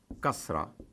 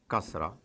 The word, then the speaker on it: kasra: I, the equivalent of it in Arabic is kasra, kasra. Now, it is as if I already think that you already know it, the use of zabar. So I put a vowel above ka, and it is kasra.